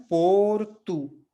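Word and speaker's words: porto: इसके बाद यहाँ पे भी देखिए ओ है शुरू में और अंत में भी ओ है, तो हम कैसे पढ़ रहे हैं, पोर्तु, है ना।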